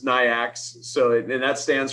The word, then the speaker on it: NAICS: you can even do the way i pronounce it is nyx so it and that